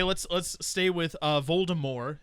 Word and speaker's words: Voldemort: harry potter series baltimore voldemort yeah without t yes she announced one at one point that it's actually pronounced voldemort as in like the french way to say it because more is death yes it's similar the